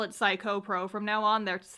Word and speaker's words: 315: 315 Productions which is of course pronounced psycho Productions whoa I believe based on